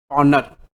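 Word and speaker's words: pawnor: बनेगा ए बनेगा पवनर स्पेलिंग देख लो पी ए डब्लू एन ओ आर पनर और बी बनेगा पानी और एक को हम लोग पनर बोलते हैं और बी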